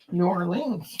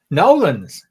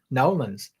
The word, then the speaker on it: New Orleans: Oh, my fit is my shirt from New Orleans. Oh, you said that all wrong. Okay, I'm just going to go back to eating my dinner then. How How do you say that? New Orleans. Nolins. Nolins.